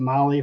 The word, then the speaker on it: Mahle: And for our podcast listeners, Molly is spelled Mahle. And I want to give a shout out to Molly for sending us the kind of care package.